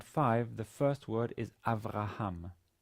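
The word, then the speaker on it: אברהם: here it's you know it's not pronounced it simply indicates that bet does not have a vowel and hence clashes with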